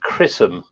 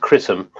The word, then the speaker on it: XRISM: Now, as Andy said, it's XRISM, which is pronounced Chrism with a C. Is it really? But yeah, that's how it's pronounced, Chrism.